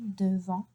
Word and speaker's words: devant: Là, again, I do not pronounce the T. I do not pronounce the T. I say devant la porte, not devant la porte.